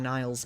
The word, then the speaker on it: Niall: Niall is supposed to be yeah, Nile. Nile.